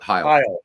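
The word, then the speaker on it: Hisle: So Cecil Cooper and Ben Oglivie and Larry, is it Hizzle? Is that how you pronounce it? Heil. Yeah, Larry Heil.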